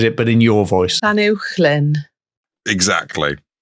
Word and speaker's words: Llanuwchllyn: You contacted Jennifer Collier and got her to record how to pronounce the words, and then you repeated it, but in your voice. Llanuwchllyn. Exactly. Llanuwchllyn, Dolgalaw, Bala, and Penmawr Hollow.